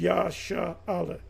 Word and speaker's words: Israel: is uh and the the correct way to say Israel or pronounce the word Israel name Israel is yha Allah and you should be